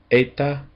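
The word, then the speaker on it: ἦτα: And it has a long A sound, as in obey, a, eta.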